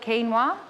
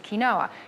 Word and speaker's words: quinoa: America it's gluten free some people call it quinoa in Australia but the correct pronunciation is kinoa you can get red kinoa and you can